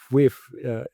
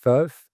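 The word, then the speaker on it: FUIF: Uh, Vicious name, but anyway, the nice story is that FWIF. I'm pronouncing it in English now, but actually it's vijf, which is a Dutch word that means party.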